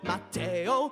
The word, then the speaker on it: Mateo: Mateo, like mayo with a T in the middle.